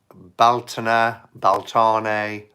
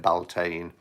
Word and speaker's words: Beltane: And Baltane, or as I call it, Beltane. Different people pronounce it in different ways, but yeah, many blessings to you all.